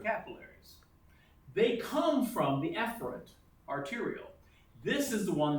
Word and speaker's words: efferent: Now, you need to understand the efferent, I pronounce E loudly to make sure you understand it starts with an E.